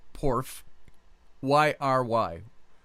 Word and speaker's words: Porphyry: The pagan Gnostic, I could never pronounce his name right, Porphyry, P-O-R-P-H, Porph, Y-R-Y, Porphyry.